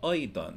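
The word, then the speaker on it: أيضًا: The word Aydan for also has the tenween al-fat ending, which is two fathas, but it's pronounced an, and for historical reasons needs an extra unpronounced alif on the end.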